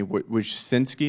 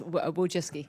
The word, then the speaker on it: Wojcicki: Winski, is that how you pronounce it? Yes. Wiski.